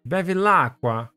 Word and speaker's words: Bevilacqua: No, I have to say it like this. Bevilacqua. Because, you know, typical Italian way of speaking.